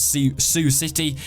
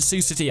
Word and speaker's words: Sioux City: Thanks for the guy who did say or told me how to pronounce Sioux City. So it was in Sioux City, Iowa, and to be honest, the crowd was so dead.